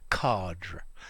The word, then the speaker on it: cadre: to use the word card um this is because it's directly related to the french word meaning a frame yeah um although i've